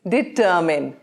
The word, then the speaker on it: determine: It's not mine. It's determine. Determine. And the emphasis is on T.